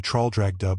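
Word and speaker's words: Traldragdubh: It contained a warrant for conducting me and my retinue to Traldragdub or Trildrogdrib, for it is pronounced both ways as near as I can remember, by a party of 10 horse.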